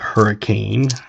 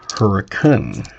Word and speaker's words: Hurricane: You do not pronounce it hurricane or they will know you're not from the area. It is pronounced hurricane.